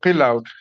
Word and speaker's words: Qilaut: We call her Qilaut. Qilaut is spelled Qilaut, and it literally means an instrument from the great sky.